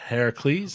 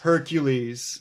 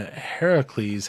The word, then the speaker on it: Heracles: to slay caracals that Heracles a lot of people pronouncing Hercules but actually the real name is yeah so I haven't